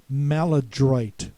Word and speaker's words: maladroit: The third word is maladroit. There's nothing French about that pronunciation at all. That's very American. We say oit at the end as if we're saying the name of the city, Detroit.